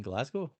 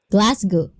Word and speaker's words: Glasgow: How do you pronounce it? Glastonale. You mean Glasgow? Glasggo. Glasgow. Glasgu.